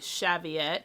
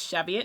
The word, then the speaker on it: Cheviot: here is some dyed Cheviot which I've learned is Chevy it not Cheviot so I will make an effort to say it correctly um some dyed Cheviot